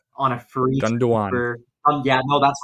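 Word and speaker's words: Gündoğan: I probably butchered the pronunciation. On a free Gundogan.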